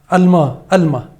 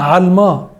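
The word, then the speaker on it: עלמה: ويقول لك ان الكلمه الثالثه هي كلمه الما. هي اسمها علما، مش الما، مش بالالف. انت عربي بتعرف تقول العين، غير بقى يهود الغرب ما يعرفش يقول العين فبيقولها الما.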